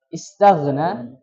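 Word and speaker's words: اسْتَغْنَىٰ: At-taghna, istaghna tadi terbacanya mohon maaf aghna. Yang betul apa? Ya, mengalir.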